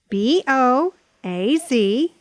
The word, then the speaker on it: Boaz: ma mother mother mother b o a z Bo as Boaz Boaz Boaz these words have three